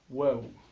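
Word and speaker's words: واو: Le W qui peut se trouver en français, qui peut se prononcer de la même manière, qui peut se prononcer wa.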